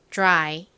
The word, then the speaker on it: dry: 나는 뭐였죠 y 오죠 y n 무슨무슨 소리가 난다고 말씀드렸죠 e 혹은 I 소리가 나죠이 둘 중에서가 이렇게 짧은 단어의 가장 끝에 쓰였을 때에는 I 소리로 쓰이는 경우가 많다라고 설명을 드렸습니다 자이 단어 발음해 볼게요 dry